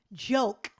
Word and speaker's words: Gioke: The answer to the question is Diet Joke, and it is spelled Gioke, and it is combined Diet Coke and ginger ale. That's why the GI for the first two letters in ginger ale.